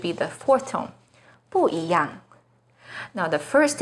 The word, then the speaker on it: 一样: The second E is followed by a fourth tone, yang. So E here should be the second rising tone, yi yang.